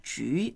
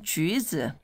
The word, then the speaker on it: 橘: Although it's 吉, not 橘, but we sort of... You mispronounce it a few times, you get that.